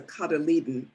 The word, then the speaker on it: cotyledon: Doesn't look like how it's pronounced, but it's a cotyledon.